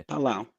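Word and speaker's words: Palau: Micronesia the Marshall Island and how do you pronounce that Pala palawa pal palao Pala yeah palao and five Trump's plan could mean massive financial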